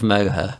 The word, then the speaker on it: Moher: The cliffs of Moher. Is that pronounced right?